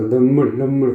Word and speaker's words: 눈물: 된다고요 눈 물 아시겠죠 입술을 바짝 오므리지마 하려면 발음이세요 그래서 눈물 눈물 그는 거거든요 끔 끔 러는 거고 예 그래서